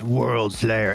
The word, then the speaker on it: Worldslayer: You gotta say it like this, Worldslayer.